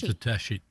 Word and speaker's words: Tedeschi: Yes, Tedeschi. Tedeschi. Tedeschi. Susan Tedeschi. Yeah, it sounds very Italian. It- Makes me want a meatball. A spicy meatball. Tedeschi.